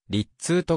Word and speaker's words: Rizzuto: はフィエロイタリア系アメリカ人でイタリア語の発音でわりっつーとが近いニックネームはスクーター 170cm